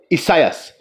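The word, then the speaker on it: Esaias: it says here isaiah isaiah's his name is isaiah you see you know that's how it's spelled e-s-a-i-a-s isaiah did you all hear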